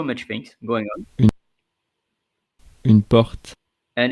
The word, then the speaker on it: porte: Une porte. And it's feminine. Porte. Porte. Porte. Let's see Switzerland. Porte. And let's see another one. Porte. Voilà. So you can pronounce the E or not.